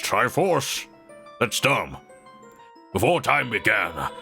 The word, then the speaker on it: Triforce: For it is in that sacred realm that one will find the divine relic, the Triforke, which contains the essence of the gods. Oh, it's that Navi. It's pronounced Triforce.